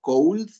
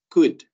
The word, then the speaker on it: could: Por ahí, cuidado, nada más hubo uno que otro que escuché que se seguía pronunciando cold. Okay, recuerden, no se pronuncia como se escribe, es could or couldn't. Okay, no cold o coldent.